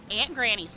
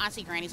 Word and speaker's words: Aunt Granny's: It is called Aunt Granny's, not Auntie Granny's.